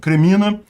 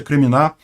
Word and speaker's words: Kreminá: Vai acontecer o que está acontecendo ali na região de Kremina, o Kreminá, na verdade a pronúncia é Kreminá, e vão acabar morrendo eles se botarem em combate.